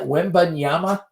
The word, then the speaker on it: Wembanyama: And I think I mispronounced. Isn't it Wembanyama?